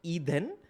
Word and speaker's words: Eden: name is called eden appleton and eden is pronounced e then so he's from kerala is a malyali and